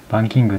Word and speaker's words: バン王: バンキング、バンオと書いてバンキングと読みます。